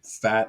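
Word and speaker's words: Pfaadt: talk about here is Brandon fought I believe that's how you pronounce it I know some people say fat it's p-f-a-a-d-t he is the seasonal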